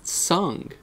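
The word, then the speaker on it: Tseng: And Tsang of the Turks is Tsung, which makes more sense if you think about how the word would be in Chinese.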